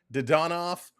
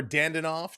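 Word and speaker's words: Dadonov: Jamie Benn with Sam Steele and Evgeny Dodonov or Dandanoff, depending on which season and how he wants you to pronounce his name.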